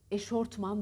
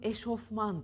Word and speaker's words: eşofman: OFM anne eşofman a Short Man denir eşortman denir heşofman Deniz ve doğrusu eşofman dır eşofman bir kelimeyi telaffuz